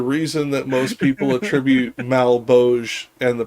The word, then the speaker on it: Malebolge: everyone pronounces it, but most people would probably pronounce it Malebolge or something like that. Malebolge. Yeah, the original Italian pronunciation would have been closer to Malebolge, which you can see from line 3 in the Italian, which ends with the rhyme, come la cerchia che d'intorno il volge.